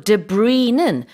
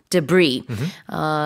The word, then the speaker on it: debris: 그리고 debris는 불어에서 온 단어이기 때문에 D-E-B-R-I-S, S가 붙지만 S 발음하지는 않습니다. 그래서 mud and debris. 요 또 다른 발음은 debris라고도 해요. 이 두 가지 발음 다 가능하고 진흙과 잔해라는 뜻입니다.